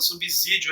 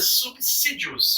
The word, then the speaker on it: subsídios: subsistência subsidiar alguma coisa tem muita gente boa falando subsídio aí com o z não existe nem na escrita e nem na pronúncia nem na pronúncia subsídios subsídios vamos lá então e